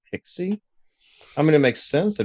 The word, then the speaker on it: PKCE: my in my head people call that pixie I mean it makes